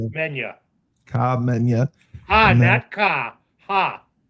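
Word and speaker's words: Khamenia: Komenya. Komenya. Okay. Very good. Komenya.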